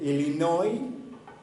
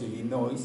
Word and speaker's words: Illinois: no en algunos décimos illinois y por pues porque así se escribe pero él y no oyen porque los franceses no pronuncian la última letra en ciertas palabras entonces muchas muchas lugares